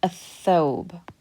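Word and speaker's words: الثوب: being used, and so you do not pronounce the lam, you skip over it. And what we do is we put a shadda on top of the tha, and it gets pronounced a thobe. So we skip that lam altogether, a thobe.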